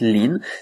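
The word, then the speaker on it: 林: mouou par exemple mais au final ça se prononce lin c'est le le bois le bosquet voilà pourquoi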